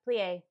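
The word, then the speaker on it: plié: Plie. It's not plie. Plie. Like a bunch of A's and a bunch of Y's at the end, even though it's not spelled that way.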